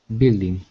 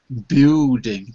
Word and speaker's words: building: And this one building. Good. Because I was hearing a oo building. But this time you got it right. The U is silent.